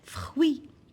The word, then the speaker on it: fruit: pas la lettre t fruits un fruit avec thé à la fin je prononce pas la lettre t suis comme le verbe